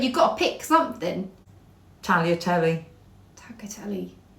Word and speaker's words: tagliatelle: Tagliatelle. Tagliatelle. It's tagliatelle, isn't it? Tagliatelle. I thought it's tagliatelle. No, tagliatelle. I thought it's tagliatelle. Is that a silent G then, is it?